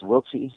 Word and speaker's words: Wiltse: And then your last name is spelled My last name is Wiltsy.